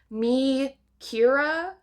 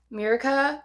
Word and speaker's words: Mikira: So it's Mikira, but I always call her Mirika because it just sounds...